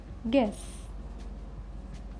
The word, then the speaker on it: guess: Here U is silent. Guess. Guess. Andaza.